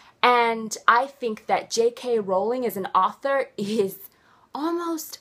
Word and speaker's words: Rowling: J.K. Rowling, or Rowling, however you want to pronounce it. Personally, I say Rowling.